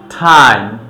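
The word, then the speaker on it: time: যেমন হচ্ছে টেল, T double E L, tell, টাইম, টি আই এম ই, টাইম, tension, tender, tend.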